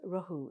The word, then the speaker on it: rohu: Oh, there's rohu. It's spelled R-O-H-U.